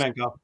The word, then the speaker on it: Kuzmenko: I can't pronounce the guy's name. Maybe you guys can help me with this. Kuzmenko? Yes, Kuzmenko.